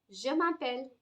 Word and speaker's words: je m'appelle: Again, please do not read it as je m'appelle. It's not je m'appelle. Je m'appelle. Je m'appelle. Remember, treasure, measure, pleasure. Remember these three words. You will never go wrong with the pronunciation of letter J.